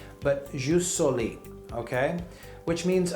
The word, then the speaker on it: jus soli: don't give me a hard time on my pronunciation but ju soli okay which means right of soil this is